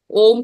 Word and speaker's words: ओम: कुछ लोग सिर्फ ओम ही बोलते हैं। तो ये ओम जो है 3 लेटर से बना है, आ, उ और म।